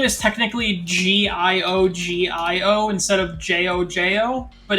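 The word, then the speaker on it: GioGio: His name is technically Gio instead of Jojo, but it's pronounced Jojo.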